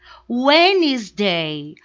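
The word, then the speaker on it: Wednesday: agora o próximo Olha o nome é muito grande mas a gente não vai pronunciar essa letra de então a gente fala o eles day when his day when his Day o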